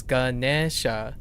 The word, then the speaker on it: Ganesha: You're really close. It's Ganesha. They add one extra syllable. It's 2 moda on the Gane. So just one more syllable.